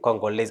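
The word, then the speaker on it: Congolaise: Now the feminine form will be Congolese as we have seen here. So we add an E, we pronounce the S as Congolese.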